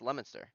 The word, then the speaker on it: Leominster: so from where I'm from is uh it's Leominster but it's spelled Leo minister they have like all these